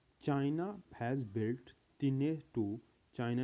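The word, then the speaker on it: Tianhe-2: तो student first one हमारा है, वैसे तो इसको बोलते हैं तीने टू, लेकिन तन्हाई बहुत से वर्ड इसको प्रोनाउंसिएट करते हैं, बहुत से स्टूडेंट इसको प्रोनाउंसिएट करते हैं तन्हाई टू। तन्हाई नहीं है, तीने टू बोला जाता है, तीने सेकेंड।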